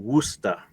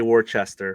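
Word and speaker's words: Worcester: that that's right right it's wer W wer yeah yeah so that is yeah that's a it's a cial uh pronunciation not gonna say was not gonna say Worchester for sure um I know my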